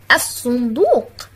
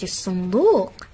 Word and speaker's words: الصندوق: عزيزي الطالب، تأمل الصورة التي أمامك واقرأ هذه الكلمات: القلم، الصندوق. ما الفرق بين الكلمتين من حيث نطق اللام؟ أحسنتم، نطقت في كلمة القلم ولكنها لم تنطق في كلمة الصندوق.